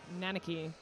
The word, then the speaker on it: Nanaki: And also, King Gracie's finally corrected your pronunciation. It's Nanaki.